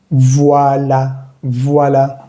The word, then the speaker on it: voilà: Voilà. Cuando veas una A con acento no va a importar mucho. Voilà. V-O-I se lee wa. Y con la V antes, pues se va a leer voilà. Voilà.